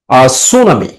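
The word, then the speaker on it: tsunami: This picture এই ছবিটি shows দেখায় সুনামি, একটি সুনামি। দেখো সুনামি, সুনামি বানানটা দেখো, প্রথমে টি আছে, টি এস ইউ, সু।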